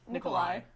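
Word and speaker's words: Nikolaj: Nikolai. Nikolai? There's a J there. It's a J, but it's Okay, an that's I. why. Sorry. I'm American. We Yeah, pronounce our J.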